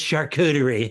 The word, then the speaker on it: charcuterie: And the fucker gave the wait person an opportunity to go, it's charcuterie.